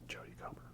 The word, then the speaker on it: Jodie Comer: That's how you say it, Jodie Comer, right? Not Comey, Comer.